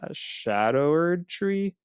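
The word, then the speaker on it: Scadutree: remember to level up I think it's pronounced the Sha shadower tree even though it's spelled like scadu yeah yeah they're like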